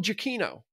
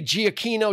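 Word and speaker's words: Giacchino: spoilery type thing anyway uh directed by Michael jaino and yes that that is how you pronounce his last name because I watched a video of him saying I'm Michael jaino jaino because I was gonna say Gino Gino chacho it's Michael jaino he and so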